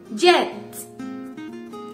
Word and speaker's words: jet: Jet. Jet. Jet. Avión. Hay que pronunciar muy bien la T al final.